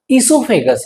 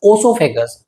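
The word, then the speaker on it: oesophagus: ठीक है, उसके बाद ये हमारा जो ईसोफेगस है, नॉट ओसोफेगस, ओ का प्रोनाउंसिएशन नहीं करना है, ईसोफेगस।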